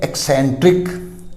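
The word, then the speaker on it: eccentric: इसी तरह ECC है एक्सेंट्रिक, एक्सेंट्रिक, सनकी, ये ध्यान रखना है।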